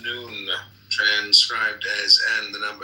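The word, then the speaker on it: Nun: and deaths comment on none none pronounced noon transcribed as and the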